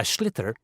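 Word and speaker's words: sliotar: you have to get this ball called a schlitter that's a s-l-i-o-t-a-r so it's not spelled the way it's pronounced you hit it into the net for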